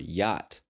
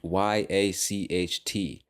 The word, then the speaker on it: yacht: I honestly don't know because we don't pronounce the c or the H in that word y now again I